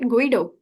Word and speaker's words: Guido: It's now Guido is is Am I pronouncing it right? Guido.